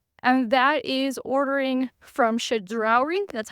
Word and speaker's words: Chedraui: me and Justin, and that is ordering from Chedraui.